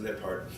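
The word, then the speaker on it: Lijphart: by dr aranda lippard l-i-j-p-h-a-r-t but pronounced lip heart at the university of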